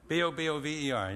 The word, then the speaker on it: Bobover: Bobover.